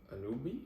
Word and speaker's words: Anunoby: Second team, Bam Adebayo, OG Anunoby, or something, I don't even know how to say his name. Anunoby. That's crazy that there's that many syllables because his name is spelled like that.